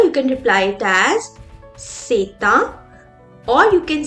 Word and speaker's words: c'est un: can say it as c'est une, or you can say it as ce sont des. Now here I'm joining the sound of T and U and I say it as c'est un.